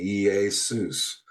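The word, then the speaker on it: Ἰησοῦς: Pronounced roughly yus. Transliterating the Hebrew Yeshua meaning salvation. The breakdown of the letters iota pronounced like I eta like hey. So it's EA yay sigma and suss.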